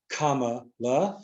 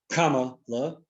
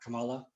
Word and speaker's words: Kamala: Would be my guess from Obama and Kamala. Thank you, Duchess Dale, for making sure. I think Kamala to pronounce it, not Kamala. Kama, like the comma.